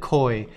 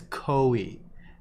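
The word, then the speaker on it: koi: I'll be right back I've always pronounced it coy yeah so I get into this all the time with my Midwestern friends here ok a hundred percent it is co e nobody from Japan will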